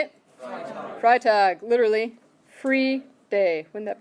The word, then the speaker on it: Freitag: look at it carefully which one you're gonna pronounce the i how you gonna say it freitag literally free day would